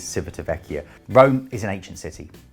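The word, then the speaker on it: Civitavecchia: located at Civita Vecchia different people disagree on how that's pronounced but I am definitely convinced it is Civita Vecchia Rome is an ancient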